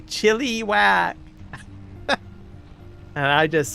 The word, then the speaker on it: Chilliwack: Chilliwack, right? Can't even hear the I when I pronounce it. But there's a lot of people, they'll say chilly whack, chilly whack.